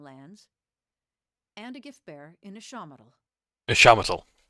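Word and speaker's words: Ixamitl: and a gift-bearer in Ishamatal. Ishamatal. So Ixamittal I've been calling wrong all the time.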